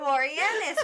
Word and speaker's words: Boreanaz: Boreanza? Boreanaz? Boreanaz? How to say there, Boreanaz.